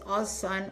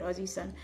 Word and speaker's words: OzSun: to them that it's Oson Oz Su N. They still pronounce it Aussies because they don't say zed they say Z. So they call it Aussie Sun, which I think is exactly what this is about.